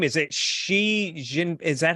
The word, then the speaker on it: Xi Jinping: Is it Xi Jin? Is that how you say it? Xi Jinping.